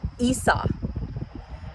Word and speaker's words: Esau: And actually, I'm going to look up the right pronunciation of Isa to make sure I'm pronouncing it correctly. Issa. Issa, I guess. I wonder if I think in Spanish it is. Esau. Esau. So, it's Esau and Jacob.